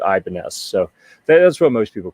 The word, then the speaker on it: Ibanez: some people pronounce it Ibanez um I think Ibanez may be the name of the guy that initially made the guitars but it's gradually morphed and been anglicized to Ibanez so that's what most